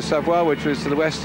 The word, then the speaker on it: Savoie: We've come out of the Savoy region, Savoie, sorry to pronounce it right, Savoie, which was to the